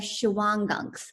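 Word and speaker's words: Shawangunks: was an area in the shiang gunks OR pronounced different ways I that's how I do it the gunks and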